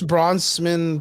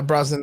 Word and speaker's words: Brosnan: because during an interview Pierce Bronson Pierce I can never pronounce his name right rosinan yeah Brosnan that guy was wearing